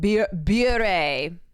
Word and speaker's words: Bure: Pronounced beer bare.